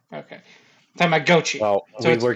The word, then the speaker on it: Tamagotchi: The original Which is- pronunciation is Tamagotchi. It's just we were pronouncing it wrong. Yeah. Or I was pronouncing it wrong. Okay. Tamagotchi.